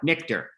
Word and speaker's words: Nichter: Next we have Nichter. Did I pronounce that right? No, Nichter. It's Nichter, right?